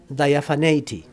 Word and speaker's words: diaphaneity: Is it how you say diaphaneity? Diaphania. Well, yeah, it comes from diaphania, no, but in English, diaphaneity, a term that is expressively pervasive in his poetry.